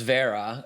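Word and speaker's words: Wera: And I don't know if you guys can see this, but this is I think it's pronounced Vera.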